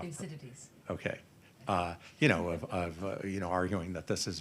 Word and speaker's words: Thucydides: My colleague Graham Allison has framed this, and I apologize, I'm going to say it wrong. You can probably say it right, Layna, which is Thucydides' trap. How do you pronounce it? I was way off. Thucydides.